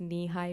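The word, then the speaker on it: Nehi: although we get it it's pronounced knee-high grape we will not pronounce it nahi grape again in the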